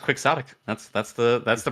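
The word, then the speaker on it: quixotic: Almost all of my conversations with Google saying that it's it's pronounced quicksotic.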